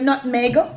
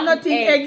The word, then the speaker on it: nutmeg: It's just 2 syllables. Nutmeg.